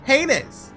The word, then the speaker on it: heinous: Heinous? Let me look that up. Heinous. Heinous! What? But it's E-I. Whatever.